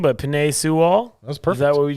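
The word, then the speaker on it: Penei Sewell: one's the bengals yes i got can't even pronounce his name but penae sewall that's perfect that's what we just said boom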